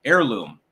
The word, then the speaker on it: heirloom: in the H and heirloom is silent but that's just me do you do you heirloom yes the H is silent fantech0104 instead of a